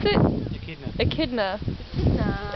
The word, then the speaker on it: echidna: and how do you pronounce it Aida AK kidna Aida it's like a it's so no fool